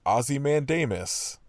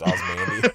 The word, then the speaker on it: Ozymandias: I think he kept being like Ozymandias was like the way he pronounced Osmandy.